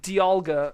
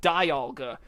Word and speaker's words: Dialga: but this movie was actually what taught me that it was pronounced Dialga and not Dialga, because they actually say its name.